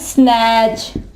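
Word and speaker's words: snatch: इसके अलावा कैच, कैच में भी टी आता है ना, लेकिन यहाँ पे टी साइलेंट होगा, तो टी जो है वो नहीं पढ़ा जाएगा। इसके अलावा इसकी एग्जाम्पल है स्नैच, स्नैच।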